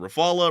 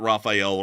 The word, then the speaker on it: Rafale: Do you pronounce it Rafale, Rafale, or Raphael? The answer is that it's not Raphael. Raphael was an artist. That's literally just not how you pronounce the name.